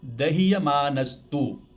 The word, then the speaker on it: दह्यमानस्तु: हाँ, इसको एक बार उच्चारण करना। दह्यमानस्तु, ऐसे बोलो।